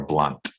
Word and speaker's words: Blount: to be mispronouncing it it's pronounced Blount or blunt like a cigarette okay all right thank